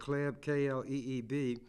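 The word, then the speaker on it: Kleeb: love and attention here said Jane I would pronounce it CLE some people say k kleb chair of the Nebraska Democratic party I gave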